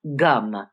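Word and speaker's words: Gam: slide om G namaha now you notice it's spelled g m and it's spelled g n a p so but it's gum in Sanskrit as in the European languages when you have a particular vowel that vowel is always the same in English of course it's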